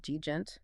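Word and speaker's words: djent: had the sudden rise of a subgenre called deent.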